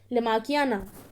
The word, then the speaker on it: lamarckiana: थोड़ा अजीब सा है, तो आप लोग उसकी स्पेलिंग नोट कर सकते हैं. OENOTHERA, ओयोनोथ्रा. ठीक है. Next is LAMARCKIANA. ठीक है, लमाकियाना, ओनोथ्रा लमाकियाना, ये इसका नेम है साइंटिफिक, और वैसे इसको कहते हैं इवनिंग प्राइमरोज।